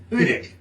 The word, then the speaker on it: Hudik: It's Hudik.